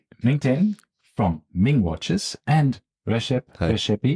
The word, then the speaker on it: Rexhep: from Ming watches and Rashi I hope I pronounced your name correct very well wonderful he said Rex up earlier this IED and I said no that's right right yeah so wonderful